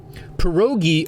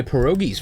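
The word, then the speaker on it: pierogi: Coast thing which I am obviously not at perogi oh my God perogi is one of my favorite foods p I believe it's spelled p i e r o g i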